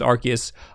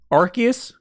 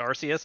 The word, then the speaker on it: Arceus: wait is that right i think they've been saying arceus in like the recent trailers because that threw me off in japanese it's r chaos but i'm just not